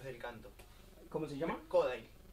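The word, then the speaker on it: Kodály: Me formé en pedagogía Kodai, que es a través del canto. ¿Perdón? Es una enseñanza a través del canto. ¿Cómo se llama? Kodai. Kodali se escribe.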